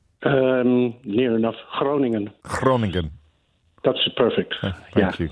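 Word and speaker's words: Groningen: is in Gran in the Netherlands did I pronounce that correctly um near enough Cronan Cronan that's perfect thank you carry hello hi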